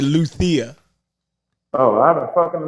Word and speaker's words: Luzia: It definitely had a Z in it, but they pronounced it Luthia.